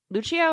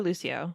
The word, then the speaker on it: Lucio: FES the beyond amazing so Lucho fules L Lucho or Lucio uh oh I could be saying it wrong I've already said always said Lucio but it might be l or another pronunciation I'm not sure I think it's Lucho okay I'm because it says you say Chow like that so I'm gonna say Lucho fi okay so in Lucho